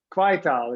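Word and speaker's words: Kwaaitaal: four a's in it quay tau is that right is that did i pronounce it right yes quaital it's uh it's dutch so we pronounce the a's as long as it does actually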